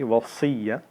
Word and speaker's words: Wasiyyah: And again, when we say, many people say it wrong, Wasiyyah, there's a sad in it, so it's like heavy, Wasiyyah.